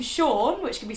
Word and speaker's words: Sean: across are the name Sean, which can be spelled like this. Or this. Or even this. Which is confusing, but just know that they're all pronounced Sean.